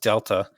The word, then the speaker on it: delta: where, just so you know, the triangle is pronounced delta.